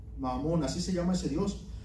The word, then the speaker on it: Mamón: Es M-A-M-M-O, con acento en la O y M, Mamón, así se llama ese dios.